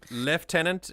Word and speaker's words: Lieutenant: start of the stream left tenant is a lovely full circle moment to the correct pronunciation of Lieutenant it comes from a French word indeed indeed Leo that's